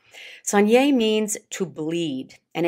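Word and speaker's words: saignée: first one Sun yay Sonnier means to bleed and it's actually spelled s AI G n EE of course those French they just don't pronounce half the letters in the words but Sonnier means to bleed and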